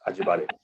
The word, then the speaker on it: Ajibade: David Ajibade is did I say it right? Yes, Ajibade.